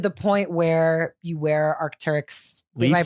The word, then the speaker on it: Arc'teryx: You know, like to the point where you wear Arc'teryx. Did Leaf? I pronounce that right?